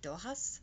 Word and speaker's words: Dochas: of it is actually Doha's which is Irish pronunciation of it but for my people